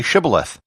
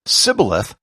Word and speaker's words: shibboleth: said all right say shibboleth if he said sybileth because he could not pronounce the word correctly they seized him and